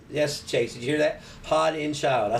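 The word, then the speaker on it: Haudenschild: Hodenschild.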